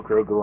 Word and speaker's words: Grogu: No Grogu on my shoulder. For you Blam truckers out there who've been watching for a while, notice I pronounced it correctly that time with no double take. Grogu. That's right, folks.